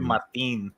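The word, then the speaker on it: Martín: I do Martin. You got to say it like that. So all right, roll my R.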